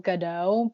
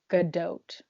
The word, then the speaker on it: Gadot: no oh um well i thought you say her name gail gadot but apparently good dote oh the t is not silent for once yeah so those are